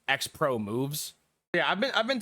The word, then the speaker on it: Xpromvz: uh I've been told that this gentleman is pronounced xpro moves yeah I've been I've been told that uh his name is pronounced xpro moves uh I will not be referring to him